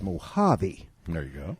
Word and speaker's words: Mojave: to tell you now you don't pronounce the J out here like a j we pronounce it like an H you see it's not the Moji it's Mojave there you go it's